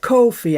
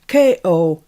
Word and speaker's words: Ko-fi: Judy found that I had opened, well, I'll call it Ko-fi. I think you're probably supposed to pronounce it, but it's Ko-fi. And I like it because it says Fi on the end, so it's obviously my name.